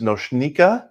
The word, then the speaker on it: Nočnica: little bit about myself my name is nochnika is fine if you have trouble pronouncing goshnika but i will make fun of you um i work at